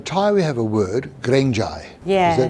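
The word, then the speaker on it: เกรงใจ: So in Thai we have a word, grengjai. Yeah. Did I pronounce that correctly? Grengjai? Grengjai, yeah, just afraid to give feedback.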